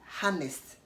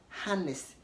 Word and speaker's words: honest: you don't say Hannah the same way you don't say honest harness age is silent because the age is